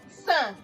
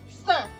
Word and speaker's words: sans: We have for the sound, example, we have san. Can we hear the sound? You are using your nose to pronounce it. We have san.